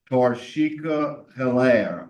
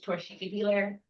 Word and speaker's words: Torshiki Belair: Uh, first we'll hear from Toshica Helair. Uh, I hope I pronounced your name right. My name is Torshiki Belair.